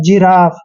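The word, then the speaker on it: giraffe: जी आई आर A double F ई मतलब जिराफ इसमें भी जी के बाद आई आया है इसलिए हमने जी का उच्चारण ज किया है क्लियर अब यहां पर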